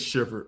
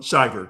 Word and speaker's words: Shiver: Because I've been saying Paige Shiver. Um, Shyiver, you're saying it right.